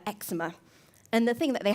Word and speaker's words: eczema: And there's some medical terms like asthma or eczema. That's Yeah. kind of hard word too. They're quite difficult to pronounce. Yeah, asthma. There's the H is silent in that word, and then eczema. Eczema.